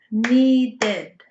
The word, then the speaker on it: needed: Need is only one syllable, need. When we use it in the past, we add an extra syllable, id, needed.